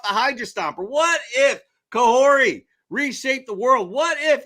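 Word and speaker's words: Kahhori: her way into Comics I do believe it's pronounced kah kahori uh so yeah that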